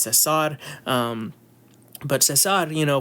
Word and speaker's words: Cesar: Cesar Salazar uh you know his name isn't Caesar Don't Call Him Caesar because he isn't a